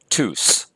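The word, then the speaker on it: τούς: accent to the epsilon and then the final Sigma whoops final Sigma there we go tous so that's our masculine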